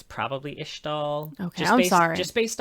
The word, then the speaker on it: Ixtal: sequestered from everybody the ishtal I always say ixtall I always say the X I feel like it's probably ishtal okay I'm sorry just based on like how